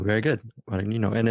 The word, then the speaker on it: Guadagnino: You sounded really good pronouncing his last name. Guadagnino, very good. Guadagnino.